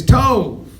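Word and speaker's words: טוב: It's tov. And you spell it how?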